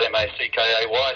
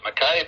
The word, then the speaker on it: Mackay: We live in a city called Mackay, spelled M-A-C-K-A-Y. Some say it's Mackay, but the guy that founded it was a Scotsman, and he pronounced it I, so I'll pronounce it Mackay.